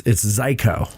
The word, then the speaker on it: Zajko: It's Zajko. Zajko. Yes. Very good. Sounds like psycho, Rhymes with but psycho. with a Z.